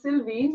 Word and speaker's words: Sylvie: uh so this is Sylvie French names right so this is Sylvie and we have to pronounce it French to make it look sound even more fancy this one is Madeleine